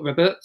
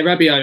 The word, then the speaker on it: Rabiot: I think Guendouzi will play a few games, though, because Emery previously at PSG, is it Robert? I can't pronounce Rabiot. Yeah, Rabiot.